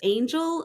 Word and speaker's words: Anjl: my first name it's angel It's pronounced Angel it's a very phonetic spelling I thought it was